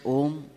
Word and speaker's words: Om: of om is this ohm comes from three syllables ah ooh three waking State dream state deep sleep state so whenever we chant om there is ah and